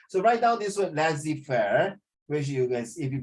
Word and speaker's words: laissez-faire: It pronounced lazy fair.